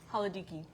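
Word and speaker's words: Halkidiki: Haladiki.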